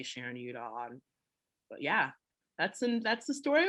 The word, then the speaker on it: Udoh: But I say Udoh. Well, I will always pronounce your name. Probably that Udoh is still wrong, but I want to say it right. Well, so say it right one more time. Udoh.